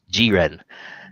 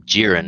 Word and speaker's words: Jiren: And this guy, his name pronounced in Japan in the subs is Jiren, but everyone in the dubs is calling him Jiren. Is like, no, Jiren.